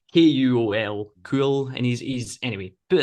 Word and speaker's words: Kuol: I'm assuming cool, that's how you pronounce it. It's Kuol, cool, and he's anyway.